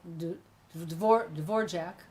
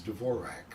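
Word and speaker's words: Dvořák: would he knows how to say things like Dvorak I heard somebody pronounce it incorrectly yesterday and I thought ah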